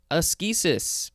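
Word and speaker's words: ascesis: on to assisis a-s-c-e-s-i-s it is also uh properly pronounced as aschesis because it can be a-s-k-e-s-i-s wonderful this is a noun from 1873.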